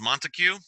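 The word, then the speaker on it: Montesquieu: Okay, this is, I believe this guy's name is Montague, and I believe that's how you pronounce it.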